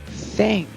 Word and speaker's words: thing: Or a thing. Right? O que é thing? Olha para o pronúncio TH também. Thing, the voiceless TH, right?